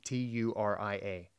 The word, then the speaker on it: Turia: of the Roman Empire, Turia or would you say Turia? How do you spell it? T U R I A. I'd say Turia, but Okay, Turia, let's go with that.